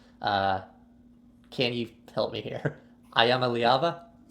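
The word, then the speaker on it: Iamaleava: I know you gave me the correct pronunciation. Can you help me here. Ayama Liava. Ayama Liava.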